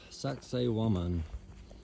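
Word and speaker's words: Sacsayhuamán: Here we are at the site of Sax Wan, less than a mile walk outside of Cusco. Only reason I can remember how to pronounce this is because it sounds like sexy woman.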